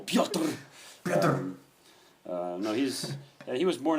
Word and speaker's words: Pyotr: That's one syllable, Pyotr.